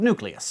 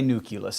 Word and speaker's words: nucleus: You are welcome to say nucleus. It is an accepted pronunciation of that word, but if you can find it in you, it's probably best to switch over to nucleus, which is, after all, how it's spelled.